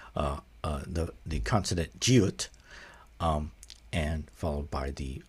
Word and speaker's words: 地: of of the uh ha that are all pronounced G. There's no and there's no difference in the pronunciation. They're all pronounced G.